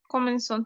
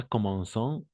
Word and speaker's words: commencent: Attention, pas commençons. ENT à la fin, on ne prononce jamais.